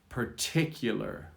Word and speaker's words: particular: So let's start with the shorter version, particular. Particular. Hear the emphasis, particular. It's on the T.